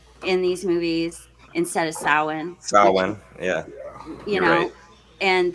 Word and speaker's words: Samhain: disgusted me yeah um also isn't don't they pronounce it sam hayne in these movies instead of samhain style yeah you know and that kind of